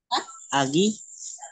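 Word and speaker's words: 아기: Agi. Yun, Agi. Agi. Tama po. Kasi si Giyok ay nasa middle position, kaya ga po yung bigkas natin. So, magiging Agi.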